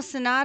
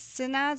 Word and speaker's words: synod: And do you say it's synods or synods? Synod, I believe is the way that is pronounced.